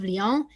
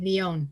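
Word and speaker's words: Lyon: account of the martyrs of liang in uh sorry leon leon as well you pronounced it in 7 177 ce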